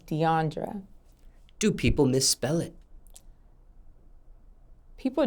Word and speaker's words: Deiondra: to pronounce your name the correct way to pronounce my name is Deandra do people mispronounce this yes I'm called DeAndrea dandria DeAndre it is Deandra do people misspell it